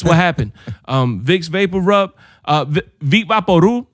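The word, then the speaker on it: Vicks VapoRub: Vicks Vapor Rub, Vic Vaporu, that's how you pronounce it. If you pronounce the B at the end, you're wrong.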